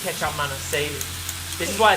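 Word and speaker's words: kecap manis: Kechup Manis. Kechup Manis.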